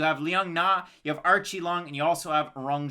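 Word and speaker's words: Aori Qileng: yup you got it so it's archie long archie long not aori ki lang it's r chi long if you're going with the pronunciation and he's coming out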